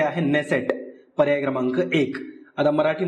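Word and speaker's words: Knesset: याचं स्पेलिंग असं नाहीये इंग्लिश मध्ये के पासून स्पेलिंग ची सुरुवात होते नेसेट पण ते के हे सायलेंट आहे जसं नाईट रायडे ची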